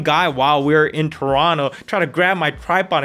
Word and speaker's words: Toronto: I guess the locals don't pronounce the T. Toronto, not Toronto.